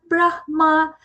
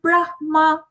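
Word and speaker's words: ब्रह्म: The only thing that we have to keep in mind is when we say Brahma, take the Hakara first followed by Makara.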